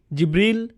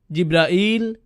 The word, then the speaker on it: জিব্রাইল: জিব্রীল, জিব্রাইল, জিব্রাইল, জিব্রাইল, জিব্রাইল এই পাঁচভাবে তার নাম উচ্চারণ করা হয়। আর এটা বিভিন্ন কিরাতের মাধ্যমে বর্ণনা করা হয়েছে।